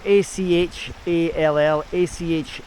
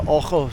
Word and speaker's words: Achall: It's Achall, Achall, but it's locals pronounce it Ochel, soft A.